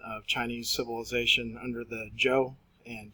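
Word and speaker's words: Zhou: Chinese civilization under the Joe and chin dynasty zho you were going to pronounce that Joe and qi n chin so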